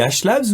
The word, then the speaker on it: HLabs: Ou à un moment donné, je t'avais appelé, je t'ai dit on dit Ashlabs ou Ashlab. Tu m'as dit on dit Ashlabs.